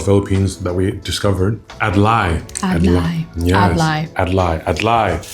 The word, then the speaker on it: adlai: Adlai. Yes. Adlai. Adlai. I heard them say it like that. Adlai.